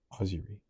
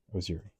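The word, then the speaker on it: ozurie: Pronounced Ozuri or Ozuri.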